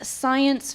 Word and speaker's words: Psyyence: The name is Science Fiction, but it's a play on words because science is spelled Psyyence, which is cool. Sci as in like psychological.